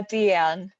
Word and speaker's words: Dyan: It's spelled Dyan. Is that? Deanne? Deanne? Hi, yeah, Deanne.